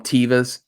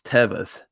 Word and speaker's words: Teva: with the you know i call them tevas right um well i just found out the other day that's not even the right way to pronounce it's tevus so so i'm sure that's